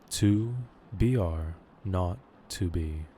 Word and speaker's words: 2BRo2B: The 0 in the telephone number he pronounced not. The number was 2BRo2B.